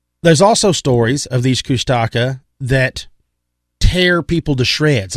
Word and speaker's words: Kushtaka: could say Kush, because the first one I read was Kush, K-U-S-H, and then a T-A-K-A, Kushtaka. That was the very first pronunciation of the spelling that I had seen.